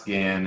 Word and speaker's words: Gahan: no no worries it's it's pronounced scan it's a bit confusing because g-a-h-a-n but it's it scan perfect and keeping with